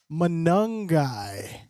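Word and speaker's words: Monangai: Kyle Manungi. Okay. Rhymes with fungi.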